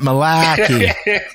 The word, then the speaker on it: malarkey: then r k y well in my neck of the woods we pronounce that malachy i'm gonna park the car and i'll hear none of your malarkey perfect then malarkey with